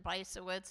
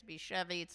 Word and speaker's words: Bysiewicz: My name is Susan Bysiewicz. If you want to pronounce it the Polish way, it's Biszewiec. I answer to both.